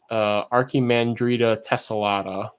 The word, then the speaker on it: Archimandrita tessellata: So if you were curious about pronunciation of the species, I've always said Macropenesthia rhinoceros and Archimandrita tessellata for those two.